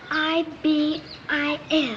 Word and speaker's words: ibis: It's I-B-I-S.